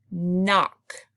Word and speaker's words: knock: eye is long mmm knock like knock on the door that's a silent K in the beginning right next words do